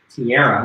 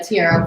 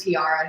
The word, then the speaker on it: Tiara: She's her name is pronounced Tiara. Yeah, Tiara. Please Not- don't listen to Rob when he says Tiara. He says it all wrong.